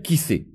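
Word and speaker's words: כסא: Et donc, cet endroit-là qui soutient les choses, ça s'appelle kissé. Alors, kos, ça s'écrit kaf, vav, samer, et kissé, ça s'écrit kaf, samer, aleph.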